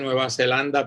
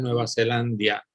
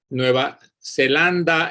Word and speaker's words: Nueva Zelandia: de nueva zelandia y alguna gente dice nueva zelanda pero eso no es correcto la palabra correcta es nueva zelandia porque no se dice groenlandia y no se dice islanda sino groenlandia e islandia y aunque nueva zelanda